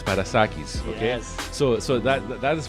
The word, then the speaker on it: Parassakis: Now, Theo is Greek, so I'm going to say how it should pronounce in Greek is Parassakis, okay?